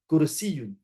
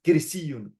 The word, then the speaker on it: كرسي: How did I know how to pronounce this word? Kursiyun. What if I would have said something else? Kirsiyun, karsiyun.